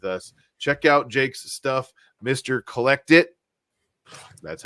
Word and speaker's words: mrcollectit: Check out Jake's stuff, mrcollectit.